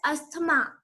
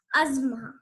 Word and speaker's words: asthma: It is not at all pronounced as asthma. It is pronounced as asthma.